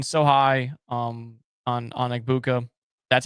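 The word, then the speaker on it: Egbuka: And I mean, we've we've been so high um on on Ibuka.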